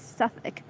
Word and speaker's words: Southwark: Let's see this, how to pronounce it. Southwark? Southwark. It's Southwark.